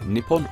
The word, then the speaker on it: Nippon: Well, they call it this in kanji, which can be pronounced in one of two ways, Nippon or Nihon.